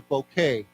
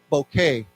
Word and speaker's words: bouquet: so let's say together bouquet bouquet we we don't pronounce the T remember we don't say that t one more time bouquet okay so even a